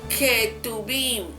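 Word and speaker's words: Ketuvim: son los ket tuin se pronuncia ket tuin se escribe K tu beim y son los escritos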